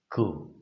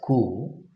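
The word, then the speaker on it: coup: nation this is called ku p is silent here and we call that as ku both in american and in british okay let's move on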